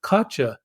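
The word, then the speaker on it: Katya: could you spell that she says k a t y a and she was pronouncing it katcha and all I said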